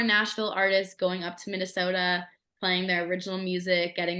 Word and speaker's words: Minnesota: Minnesota.